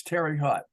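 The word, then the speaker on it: Terre Haute: wib but see when in Indiana it's Terry Hut you know spelled with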